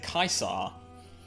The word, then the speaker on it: Caesar: simply by the name the way they pronounce uh Caesar cuz if they say kaisar probably an imperial wait is it Imperial